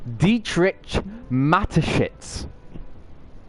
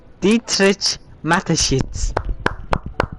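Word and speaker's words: Dietrich Mateschitz: Dietrich matshits. Dietrich matshits.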